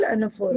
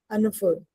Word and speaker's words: anaphora: So this is called anaphora. Yes, ma'am. This is called what is it called बेटा? anaphora. ये लिखते an है पर हम उसको बोलते un. प्रोनाउंसिएशन में un आता है.